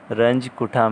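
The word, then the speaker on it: Runge-Kutta: There are so many pronunciation I had listened for this word Arcase. Ranj-Kutha method, basically the name is Ranj-Kutha method. ठीक है.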